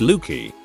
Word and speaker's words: Luci: So for Lucius, it's Lucy, pronounced Lukey.